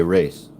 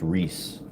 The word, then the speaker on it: Reese: So This is my family name, Reese, or Portuguese spell, pronunciation, you would say race. But in America, as a Portuguese person, and in California, this is not an unusual name, and it's pronounced Reese in California.